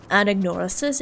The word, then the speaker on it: Anagnorisis: much trouble pronouncing that, Anagnorisis, is because I want to put stress on the second syllable because I'm so used to Anaxagoras. Anaxagoras, right? So you put stress on the NA there, but here you